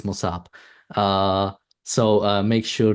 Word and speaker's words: Mosab: I'm even confused but it ends with a B it's mosab uh so uh make